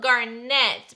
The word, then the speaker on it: Garnett: colorway somebody told me it's spelled garnett but it's pronounced garnet so i'm doing that